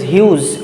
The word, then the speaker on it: Hughes: Ted Hughes the spelling the pronunciation is not anything else it is Hughes h ug h es okay so G is silent out here okay so he